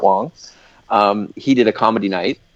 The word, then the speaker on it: Wang: incorrectly all these years it's spelled Garrett Wang but it is pronounced Garrett Wong he did a comedy